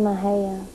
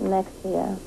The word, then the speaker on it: Mexia: called say it's called Maha people pronounce it Mexia cuz it's still any exia but it's Maha Maha Texas were you